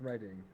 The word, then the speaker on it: Reading: in which British City no no it's really based in reading I know I know he's still on we can't be angry but it is pronounced reading okay I have no